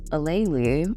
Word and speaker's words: Aleali: It's Aleali. I think Ali is a little lazy because that's only 3 letters of the 6 letters of my name.